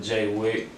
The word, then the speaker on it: J4Y WICK: can look me up on youtube jwik it's it's spelled j4y wi-ck instagram is j4y hyphen w-i-c-k facebook is just jaywick facebook.comic j4y and uh i'm not up on